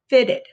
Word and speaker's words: fitted: is t in fit then it makes the ed which the e has the short vowel e so it has its own syllable so we say fit it fitted two syllables and that's the end